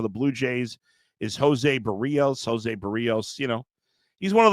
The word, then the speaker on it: Barrios: I just can't get involved with Barrios. And by the way, tip of the cap to you for pronouncing it so correctly. A lot of people say Barrios. It's Barrios.